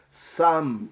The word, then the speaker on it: some: E por último nesse vídeo a questão número 10, que diz o seguinte: não pronunciamos o E final da palavra some. Essa é a correta, né? Porque eu já acabei de pronunciar some, sem falar o E.